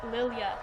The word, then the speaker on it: Lilia: It's actually Lilia, so I've been pronouncing that wrong.